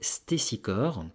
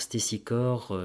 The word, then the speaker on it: Stésichore: a le discours d'un célèbre poète qui s'appelait Stésichore. Alors ça s'écrit S-T-E accent aigu S-I-C-H-O-R-E. Alors Stésichore, c'était un célèbre poète dont la période d'activité se situe aux alentours de 570-540 avant Jésus-Christ.